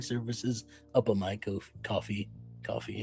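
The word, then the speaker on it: Ko-fi: Coffee is how it's pronounced, I believe. It is pronounced coffee.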